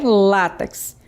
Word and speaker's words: látex: Então, vocês perceberam que a palavra é látex. O acento tônico é no lar e não no tes.